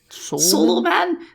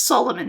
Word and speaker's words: Solomon: Billy can't pronounce Solomon it's pronounced how it's spelled Billy it's not like solo man it's actually harder to